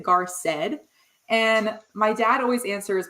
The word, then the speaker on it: Garced: funny story about that I've always pronounced it gar said and my dad always